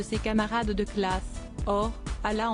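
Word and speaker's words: Hala: camarades de classe or Allah en français on ne prononce pas le H et quand je suis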